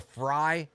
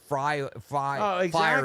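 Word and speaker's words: Fyre: Remember the Fry Festival? Yeah, oh yeah, the Fire Festival. Fire Festival. Yeah. It's spelled F-Y-R-E.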